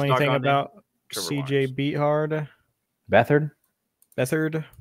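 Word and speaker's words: Beathard: about CJ beard bethard bethard is how you say it not beat hard come on dude bethard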